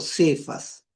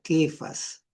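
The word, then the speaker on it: Κηφᾶς: español le han puesto cefas, pero si tú vas al griego aparece la letra capa y se pronuncia quefas.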